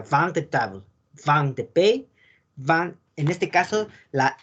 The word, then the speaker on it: vin de pays: Como en el caso de vin de Pays. La S no se pronuncia.